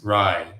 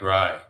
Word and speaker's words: Ry: My name uh rhyme with Kai. My name is Ry. Sounds like Ry.